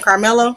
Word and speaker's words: Karmelo: Carmelo.